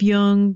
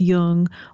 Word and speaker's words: Jung: If you ask it to play Speaking of Jung, you have to pronounce Jung with a hard J. Otherwise, it will think you're saying the word young.